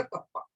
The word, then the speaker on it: kappa: इस तरीके से बनाना, कप्पा कहा जाता है, प्रोनाउंस किया जाएगा कप्पा, and known as conductivity.